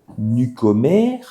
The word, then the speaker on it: Nukomr: o M r donc nucomer hchti hchti voilà hein euh en fait c'est les nouveaux communicants h c'est ce que l'on veut donner comme comme idée ça que ça se prononce comme new com donc Communicator et et